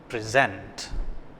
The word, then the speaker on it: present: what is a difference it's the same spelling it's the same word but it's pronounced in two different ways what is the difference